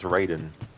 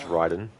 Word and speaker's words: Raiden: not it's Raiden like well Mortal Kombat is Raiden Metal Gear solded is Ryden is something sir is